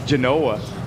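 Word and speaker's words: Zjhonoah: I asked about how to pronounce his name and it's Genanoa and I'll give you the spelling of it in a moment as the pitch is in there for a strike.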